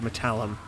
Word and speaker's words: Metallum: Skeleton Boomer, Fecal Rangers, Phallus Metallum, Phallus Metallum, that's the word, Metallum, that's how you pronounce it, Macaroni Bone Meal, Pee in the